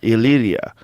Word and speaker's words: Illyria: And parts of Illyria? Illyria.